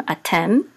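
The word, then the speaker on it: אתם: And so the accent is on Tem. Atem. Ata would be you masculine.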